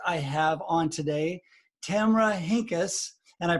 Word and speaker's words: Henkes: for the guest i have on today tamara hinkis and i pronounced that right didn't i yes so i've